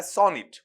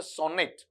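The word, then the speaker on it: sonnet: अंदर, तो गौर करना, इट इज नॉट सोनेट। क्या है? सोनिट। सोनिट इस तरीके से पढ़ा जाएगा।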